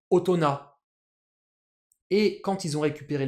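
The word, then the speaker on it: 大人: aurait le faire logiquement est-ce qu'on prononce ça ohito ou Obito comme on pourrait le faire si jamais le mot existait déjà de base avant la récupération des kanji non en fait on va faire ni l'un ni l'autre parce que les Japonais ont déjà un mot seul qui veut dire adulte qui est de base en purement japonais utona et quand ils ont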